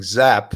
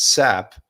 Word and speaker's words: Sapp: problem pronouncing these names she keeps saying zap with a z and it's sap and she said puke one